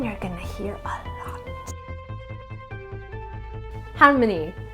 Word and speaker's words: Halmoni: Harmony, pronounced like harmony, melody.